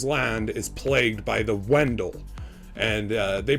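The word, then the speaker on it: Wendol: that his father's land is plagued by the Wendell and they pronounce it Vendela but it's spelled w.e ndel and these were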